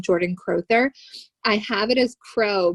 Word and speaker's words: Crowther: Like it's Crowther.